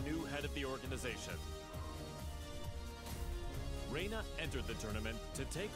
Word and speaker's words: Reina: is I think it's I think it's pronounced Raina I think but yeah let's do